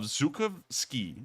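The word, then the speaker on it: Zhukovsky: say that near moscow in the city of zukov ski i believe is how it's pronounced we can see that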